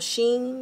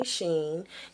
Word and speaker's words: Shein: So the first review I'm going to do is on a company called Shein. It's S-H-E-I-N, okay, and I may be pronouncing it wrong, but I'll say Shein, okay, and I saw